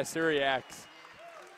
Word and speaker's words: Syriacs: How do you say his last name again? Oh, Syriacs? Yeah, Syriacs.